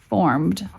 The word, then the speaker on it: formed: about the word formed formed okay okay we see that it's a past tense of to form the sound is determining how we pronounce the inflectional ending Ed and it sounds like d formed so those ones do